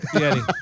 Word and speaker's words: Fieri: Fieri.